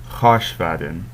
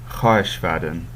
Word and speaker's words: khashvaden: You notice that it's spelled khahesh, but you sort of run it all together so it comes out khash.